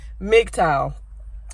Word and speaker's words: MGTOW: so let's start with the mgt o.w which can be pronounced as Midtown its mg T o w